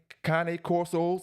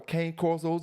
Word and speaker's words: Cane Corso: when you're mixing them Kane Kane corsos or cane corsos depends on how you want to pronounce it you get something unpredictable